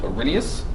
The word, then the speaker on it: Arrhenius: to know these two this big word up here in the top left is pronounced Arrhenius and they have the